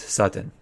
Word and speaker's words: Sutton: gonna go with Sutton there's some people last week of telling me I didn't know how to pronounce it because I was saying with DS than T's no it's with T's Sutton what I've been saying